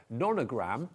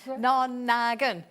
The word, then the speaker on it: nonagon: You know, you can put your own personal tangles to make your own nonagram or nonagram. How do you say it? Nonagon. Nonagon. Nonagon. Yeah, as in Lolly Donegan.